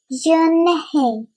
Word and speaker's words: Unhei: Yes, it's pronounced Yunhei. And it means grace, Mr. Kim added. Yunhei, Joy said slowly, and this time perfectly.